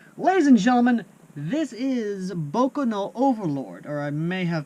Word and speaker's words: Boku no: and gentlemen this is boca no overlord or i may have announced that wrong no i didn't pronounce that wrong it's boko no overlord so i did do that right this is a 30